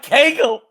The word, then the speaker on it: kegel: A kegel. Yeah, rhymes with bagel.